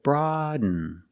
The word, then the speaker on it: broaden: Pronunciation, not broaden, but broaden, broaden. You do a stop D, you put the tongue up, broad, and you fall to an N.